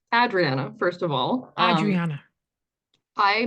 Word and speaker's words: Adriana: But it's so real, because Canadian, North American pronunciations are usually Adriana, but that's where I'm so unique.